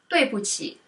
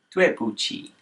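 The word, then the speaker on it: 对不起: So number 6 is I'm sorry, and it is pronounced as 对不起. 对不起. 对不起.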